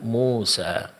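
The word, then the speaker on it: موسى: Pengucapan alif di sini itu tidak akan sempurna kalau dalam pengucapannya kedua bibir itu tidak dibuka, yaitu mulut tidak dibuka.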